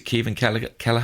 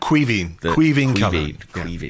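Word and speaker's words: Caoimhín Kelleher: And I might mangle this pronunciation, but is it Kevin Kelleher? Queeveen Kelleher. I was close.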